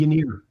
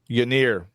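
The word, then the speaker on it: Ynyr: Uh, Winer. What? Yanir. Yanir. Yeah. It's spelled Y N Y R. Yeah. Yir.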